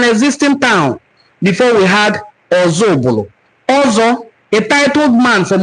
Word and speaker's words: Ozubulu: The Igbo in Council of Ozubulu explained that The name of their town is pronounced as Ozubulu from Oza Ubulu, and certainly not meaning another Ubulu, as often misinterpreted.